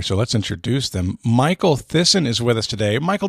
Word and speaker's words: Thissen: to remind people that it rhymes with listen ah it was spelled